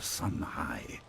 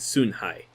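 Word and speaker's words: Sun Hai: the brother of Emperor Sun high so you know I'm no God of Chinese pronunciation either but instead a son that should technically be soon Li and soon high but that's all right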